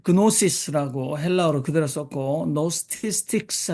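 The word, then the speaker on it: Gnostics: 여러분들 이제 사전을 찾아보시면 많이 나올 텐데 제가 여기에 그 영지주의 그다음에 그 그노시스라고 헬라어로 그대로 썼고 노스티스틱스 해서 앞에 묵음입니다.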